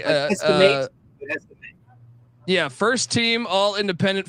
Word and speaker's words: Estime: Notre Dame with how do I pronounce this guy's name again? Audric Estime. Yeah, Estime. Estime.